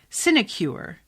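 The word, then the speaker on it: sinecure: an extremely useful word sinicure is how you pronounce it okay the mayor is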